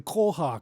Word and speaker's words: koha: And am I pronouncing it correctly? Somebody gave me a bit of flack yesterday for not pronouncing koha correctly. Yeah, that sounds correct enough to me.